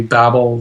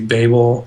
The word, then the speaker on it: Babel: And I think most Americans say Babel, though I think some Brits say Babel.